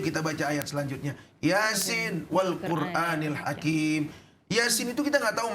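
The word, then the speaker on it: وَالْقُرْآنِ الْحَكِيمِ: Kalau wawunya wawu ibtida itu dibacanya wal Qur'anul Hakimu. Tetapi dibacanya wal Qur'anil Hakim.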